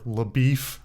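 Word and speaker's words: LaBoeuf: who plays uh Ranger labou or Le beef as he calls it I I think that's I don't think that's Matt Damon's problem I think that's actually the the way it's the the character pronounces it but um I don't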